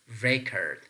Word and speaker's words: record: syllable word recurred so if it is functioning as a noun we have to place the stress pattern on the first syllable we can say the noun record the noun record is pronounced record and the verb recurred